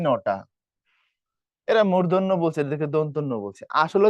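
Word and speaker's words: দন্ত্য: আরেকটা ইন্টারেস্টিং বিষয় হচ্ছে আমরা এটারে বলি হচ্ছে দৈন্তান্য। এটারে বলি হচ্ছে মদিনান্য। এটা উচ্চারণ ভুল। মদিনা এটাকে কি ধরনের কথা? এটা যদি মদিনার নয় তাহলে তো মক্কার ন হওয়ার কথা। একটা মদিনা একটা মক্কা নাকি? তো এভাবে উচ্চারণ করা যাবে না।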